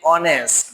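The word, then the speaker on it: honest: তারপরে দেখো ওয়ার্ডের শুরুতে এইচ থেকেও এর উচ্চারণের সময় যদি এটা সাইলেন্ট থাকে বা উচ্চারিত না হয় তার আগে সাধারণত এন বসে, যেমন an hour, N অনেস্ট ম্যান, এন এয়ার, N honourable teacher.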